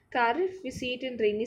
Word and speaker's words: Kharif: only if we spoke cardiff as in winter season we spoke cardiff in winter in rainy sorry i miss i have mispronounced kharif we see it in